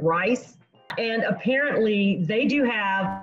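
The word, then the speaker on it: Ryse: um and i don't it's spelled r-y-s-e and i don't know how you pronounce it rice and apparently they do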